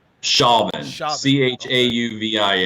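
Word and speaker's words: Chauvin: are updates regarding uh Derek how do you pronounce his last name shavon shavon CH au VI n aiding and abetting second-degree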